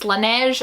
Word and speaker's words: Laneige: other thing i found this year is the laneige i think what you guys said that that is the correct way to pronounce this laneige lip mask this is the berry flavor the